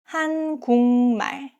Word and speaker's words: 한국말: If a syllable ends with a K sound, like 기역 or 키읔 or 쌍기역, and the next syllable starts with 니은 or 미음, the K turns into NG sound. That's why 한국말 pronounced as 한국말.